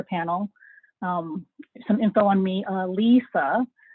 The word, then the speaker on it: Alyssa: Ah-LEE-sah is how you pronounce it. I know there's this other Alyssa person that is very popular, but we don't pronounce it that way.